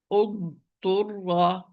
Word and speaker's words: اضطر: You are going to merge dad into ta, the dad into the ta, or the dad into ta. Like, I'm going to pronounce this word properly first. اضطر اضطر اض.